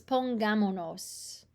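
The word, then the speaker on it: pongámonos: don't like it so they drop the first s to make it easier to pronounce so it's pongamonos pongamonos um let's put on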